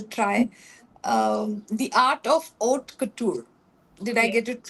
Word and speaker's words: haute couture: But I I know I'll try um the art of oat couture. Did I get it right? Yes. A little softer. Oat couture in French. Oat couture.